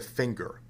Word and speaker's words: finger: Why do we pronounce the word finger with a hard G and the word singer with a soft G?